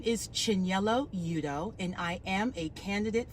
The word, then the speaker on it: Chinyelu Udoh: just let you all know exactly how to pronounce it my name is Chen yellow Yuto and I am a candidate for civil court